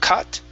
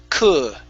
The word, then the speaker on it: could: Instead of cut, it's could.